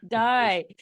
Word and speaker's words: Dai: Rebecca and I know sometimes it's pronounced day but sometimes it's also pronounced die so with a Welsh pronunciation but no you're you're